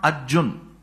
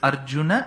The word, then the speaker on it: Arjuna: the last letter by cutting half of its pronunciation it's not Arjun it's Arjun that akaram has to be there it is not the other way of making it Arjuna that aaram is not needed but it's Arjuna and bhata why do then people say bhat